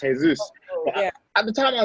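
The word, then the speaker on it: Jesús: It's actually pronounced Jesus."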